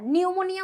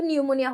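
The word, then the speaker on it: pneumonia: কিন্তু ইংরেজিতে যদি লিখতে যাও একটা পি আছে নামের শুরুতে পিটা কিন্তু সাইলেন্ট থাকবে পি এন ইউ এরকম করে মানে পিটা কিন্তু থাকবে নামের শুরুতে এই ভুলটা অনেকেই করে নামের শুরুতে পিটা দেয় না নিউমোনিয়া উচ্চারণ করে নিউমোকক্কাস এন দিয়ে শুরু করে দেয় কিন্তু এটা কিন্তু এন দিয়ে না পি থাকবে সামনে একটা সাইলেন্ট পি তাহলে নিউমোনিয়া কি একটা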